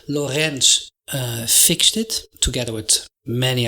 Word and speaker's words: Lorentz: gp hit it anton lorenz that's how we dutch pronounce his name and he's dutch hendrik anton lorenz and maybe you've seen